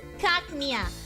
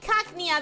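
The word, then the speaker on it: Cacnea: there's a cactus and it has to be pronounced like a cactus right like Hackney okay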